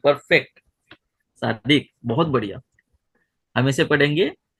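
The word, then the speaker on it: צדקה: तो आप उसे क्या पढ़ोगे? जी शंकु भाई। जी, इसे हम सदका पढ़ेंगे।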